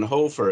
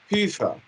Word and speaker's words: Hoefer: me that question but my real last name is hofer it's a german last name and in reality it's not even hofer it's pufa but if you don't